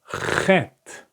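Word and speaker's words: חֵית: This is exactly the pronunciation of chet. You listen? Like ha.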